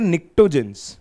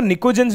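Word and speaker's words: pnictogens: नाम दिया जाता है इसको बोला जाता है nictoins ठीक है कुछ लोग इसको nichodance भी प्रोनाउंस करते हैं टीको साइलेंट रख के कुछ जेंट्स भी बोलते हैं दोनों ही ठीक है nictoins क्यों बोलते हैं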